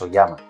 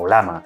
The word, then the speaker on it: Ollama: día de hoy es oyama o olama dependiendo de como lo quieras pronunciar pero existen otras alternativas como local Ai o incluso más avanzadas como llama.